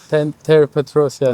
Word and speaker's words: Petrosyan: don't want to insult him by pronouncing his surname wrong, Petrosyan. Petrosyan.